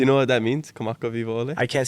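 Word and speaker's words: Kamakawiwoʻole: Kamaka Vivo Ole.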